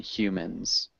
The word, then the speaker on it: humans: Yeah, and we do pronounce the H in humans.